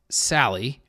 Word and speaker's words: Salle: And so Travis Sally, did I pronounce that correctly?